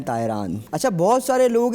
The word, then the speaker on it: Tairan: टी ए आई आर ए एन तायरान।